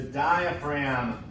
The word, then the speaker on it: diaphragm: That's right, the diaphragm. Now that's a big, weird word. Look at all of those silent letters in there. Diaphragm.